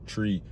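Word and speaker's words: three: like the number 3, you're supposed to pronounce it as tree.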